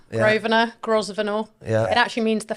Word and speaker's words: Grosvenor: And your friend is in the hot seat today, Grosvenor. Is that how you say your second name? Yeah, you can say it like that. Yeah. Grosvenor.